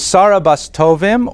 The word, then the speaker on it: Sarah Bas Tovim: Her name is Sarah Bas Tovim, or probably that was pronounced in her time, Soira Bas Tovim, right, from the Yiddish pronunciation.